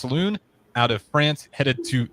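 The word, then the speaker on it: Salaün: butcher his last name I believe it's pronounced Saloon out of France headed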